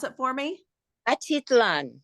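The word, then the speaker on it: Atitlán: memoir held every year since 2001 in Lake pronounce it for me atitlan atitlan in Guatemala so I'm so excited that you're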